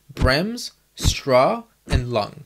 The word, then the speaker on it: Bremsstrahlung: to brim strolling radiation first of all pronouncing it is a challenge unto itself but spelling it is also a pain so what I do is just break it down into three words brems straw and lung so remember early earlier